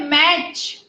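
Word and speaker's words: match: Now, फिर है मैच. मैच के अंदर भी टी साइलेंट है. आगे लिख लो टी साइलेंट.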